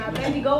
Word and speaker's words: Abednego: And I begin to think about Daniel, and I begin to think about Shadrach, Meshach, and Abednego. That's how you say his name, Abednego.